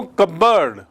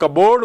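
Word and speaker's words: cupboard: उसकी हम लोग कबोर्ड बोलते हैं जिसे, वो एक्चुअली कबर्ड है। और उसकी स्पेलिंग देखिए, cup plus बोर्ड, but pronunciation is कबर्ड।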